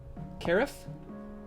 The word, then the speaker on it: carafe: Carafe? I think what we need to do is we need to start with some basic shapes. So like, give me a circle. Uh-oh. Rhymes with giraffe. Carafe.